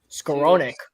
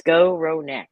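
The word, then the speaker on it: Skowronek: he throws don't laugh scaronic um let me see I had a pronunciation on the game notes it is go row neck um I don't know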